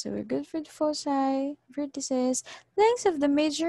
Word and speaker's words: foci: look for the foci it's pronounced as foci foci yep case one the formula